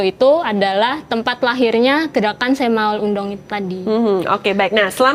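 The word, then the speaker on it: 새마을 운동: tuh apa sih sebenarnya semul undong semul undong ini kan itu bacanya benar semaul undong gak tau orang Korea Bacanya apa kalau di Korea sih sebenarnya sem semaul semaul undong undong Iya semaul undong tapi biar gampang sem Maul undong aja kayaknya enggak apa-apa eh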